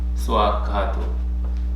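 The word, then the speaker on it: Svākkhāto: This word Swakhata comes from Suakhata. And then the V sound comes as they pronounce it, and then Swakhata is made. You go upward. Swakhato.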